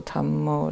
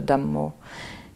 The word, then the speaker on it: Dhammo: But usually I use Buddho, Dhammo, Sangho, the Buddha, the Dhamma, and the Sangha. Which is how they say it in Thai. Buddho, name of the Buddha, Dhammo, name of the Dhamma, and Sangho, the name of the Sangha.